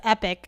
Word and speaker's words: epochs: Yeah, like it's spelled epochs, but it's epic, and it's a real word.